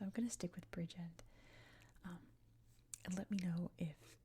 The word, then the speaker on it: Bridgend: I've heard it with the D dropped at the end. I've heard a more emphasis on the second syllable, Bridgend.